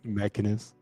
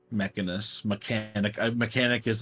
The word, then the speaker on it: Mechanus: That's Mechanus. Mechanicus is better. I'm using Mechanicus. Mechanicus. I'm Mechanicus. There's like an extra canic in there.